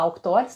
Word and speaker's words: Auctores: Se escreve Avictores, A-V-C-Tores, né? Avictores, tá? V mudo, Avictores. E essa Auctores, a gente fala Auctores, tá?